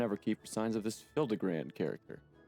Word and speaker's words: Hildibrand: Since parting ways, I've searched every alley and dive bar and Everkeep for signs of this Hildibrand character. It's pronounced Hildibrand.